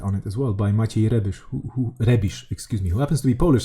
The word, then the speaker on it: Maciej Rebisz: it as well by Maciej Rebisz, who happens to be Polish, so I can actually totally mispronounce this person's name. Maciej Rebisz? Yeah, totally. Like, no, that's the way you actually pronounce it.